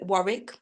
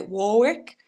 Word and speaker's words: Warwick: I am at St John's tomorrow in Warwick, or as the Americans say, Warwick.